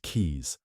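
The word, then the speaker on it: Caius: John Kais pronounced keys was no fake or village healer.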